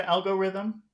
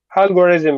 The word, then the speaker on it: algorithm: you say the word algorithm algorithm yeah can you say Thum Thum Thum algorithm Rhythm Rhythm Rhythm algorithm Rhythm algorithm where's the big sound algorithm algorithm a algorithm